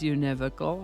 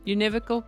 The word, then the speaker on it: univocal: word is univocal looks like it would be pronounced univocal doesn't it but it really is univocal I promise univocal can be a noun or an adjective as